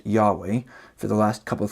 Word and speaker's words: Yahweh: God's boda Havel hey most scholars believe that God's name was originally pronounced Yahweh for the last couple